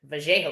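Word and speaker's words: Vallejos: You're asking how to pronounce it. VJO.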